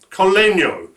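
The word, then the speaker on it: col legno: Sharon will say if I pronounce that right. Yeah. Collegno.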